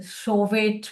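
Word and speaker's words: Chauvet: Yeah, you see this uh rock art of show and lasco. It's it's a French pronunciation. It's show maybe you see in English.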